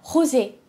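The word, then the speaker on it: rosé: 수도 있을 것 같아요 로우 제는 프랑스 어로 핑크 라는 뜻이에요 허지 라고 발음을 하는데요 그렇기 때문에 나라마다 스페인어로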